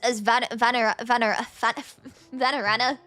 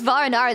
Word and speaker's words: Vanarana: to read this as Vanarana. I've been reading it as Varanara this whole time because I skimmed over it. My brain saved the wrong pronunciation to memory.